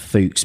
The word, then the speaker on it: Fuchs: Put it up on YouTube, and again, I was schooled by a bunch of Germans that said it's pronounced Fuchs because it's the German word for fox.